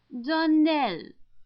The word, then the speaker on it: Darnell: Darnell accent on the last syllable and St.